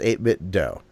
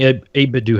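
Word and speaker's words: 8BitDo: to help you pronounce 8bit do he said his name like Nintendo but instead of but instead 8bit do so she be like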